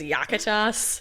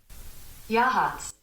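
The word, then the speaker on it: Yachats: I think it's Yakutas. Yakutas. All right, I'm going to play this for you so that you can't tell me I'm wrong. It's Yahats.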